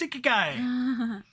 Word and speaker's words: Ikigai: That it's pronounced Ikigai.